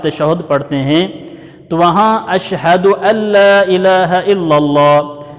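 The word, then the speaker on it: أشهد: غلطی کی جاتی ہے، اشہاد اللہ، اشہاد ہا کو لمبا نہیں کرنا، اشہد ان لا الہ الا اللہ، اس طریقے سے پڑھنا ہے۔ اشہد ان لا الہ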